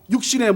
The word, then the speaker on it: 육신: 육신의 모양으로 보내어 무엇의? 육신의. 3절부터 9절까지는 계속해서 무슨 단어가 나온다고요? 육신을 잘못 발음하면 욱신됩니다. 육신 나옵니다.